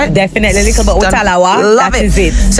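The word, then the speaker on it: Likkle but we tallawah: Because I mean Jamaicans they have this saying little but we tala. Did I say it right? Definitely little butawa.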